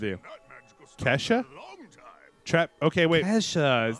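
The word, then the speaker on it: Ke$ha: Kesha, that's how you say it.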